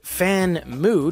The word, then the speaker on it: Famue: Pronounced Fan-mu, despite having Famue written no less than 12 times on the box, device, and accompanying materials.